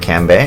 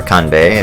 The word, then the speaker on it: Kanbei: So if we remember, last time we played, we met Kanbei, and or Kanbei if you want to go actual pronunciation.